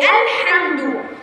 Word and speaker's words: الحمد: زي الحمد، شوف احنا نطقنا اللام وعملنا بقى في التوسط الحمد. عس الرحمن، سمعت صوت اللام؟